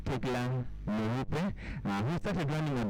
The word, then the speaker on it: Tegla: Tegla, karibu sana. Jina nimepronounce vizuri.